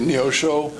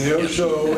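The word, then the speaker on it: Neosho: here that I'm going to have probably trouble pronouncing is what is that how do you say it? Neoso. Yes. Neoso and and Bourbon.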